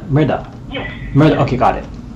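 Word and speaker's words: Mehrdad: r b a d r d a d Murda Murda yes Mur okay got it okay thank you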